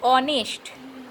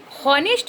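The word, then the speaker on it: honest: लेकिन यहाँ पर आइए, यहाँ पर अगर आप देखेंगे, चुप, यहाँ पर अगर आप देखेंगे तो ऑनेस्ट, इसको हम लोग पढ़ते हैं ऑनेस्ट, हॉनेस्ट नहीं पढ़ते हैं, ऑनेस्ट।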